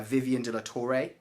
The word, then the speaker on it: De La Torre: title officers, and today we are joined by Vivian De La Torre. Pronounced that right?